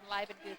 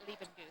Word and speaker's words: Leibenguth: a long time, and they could at least pronounce her name Leibenguth and not Liebenguth.